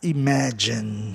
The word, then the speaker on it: imagine: Então, o A ali ficou como, do MA, ficou a sílaba mais forte.